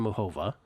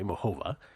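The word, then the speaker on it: Muchová: uh I do have karolina makova Carolina moova is the correct way to pronounce that by the way moova uh got her at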